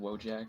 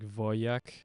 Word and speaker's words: Wojak: and so I think it's like not pronounced Wojak, but I'm pronouncing it Wojak. It's probably like Voyak.